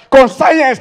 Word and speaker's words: conscience: You by yourself, add C-O-N for the beginning. Conscience. It's supposed to be conscience.